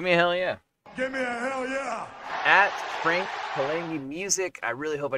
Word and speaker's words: Frank Palangi: Frank Palangi.